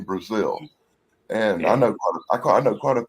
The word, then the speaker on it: Brazel: Everybody on TV always says Brazel, but the people I know who are related to him pronounce the name Brazil.